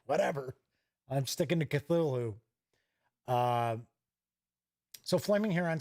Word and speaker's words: Cthulhu: stuff and he's like well you know it's not really pronounced Cthulhu it's pronounced it's supposed to be something that you can't really pronounce with the human tongue but it's something like - hoo hoo I was like oh